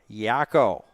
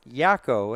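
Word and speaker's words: Jao: J A O. That's how his last name is spelled. But talking to the coaching staff in New Brunswick. Yako as in the guy, one of the three characters there from the animeaniacs, a 90s cartoon.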